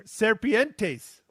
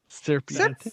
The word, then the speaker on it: serpiente: How do you say snake in Spanish, Matt? Come on, Matt. You're Serpientes. Oh, okay. Serpiente. Serpiente, yes.